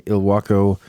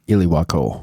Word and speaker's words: Ilwaco: So let's talk about the North Head Lighthouse, located in Ilwaco, Washington.